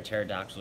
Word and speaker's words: pterodactyl: Why can't you hear a pterodactyl use the restroom? I asked the crowd. Because the P is silent, they all said.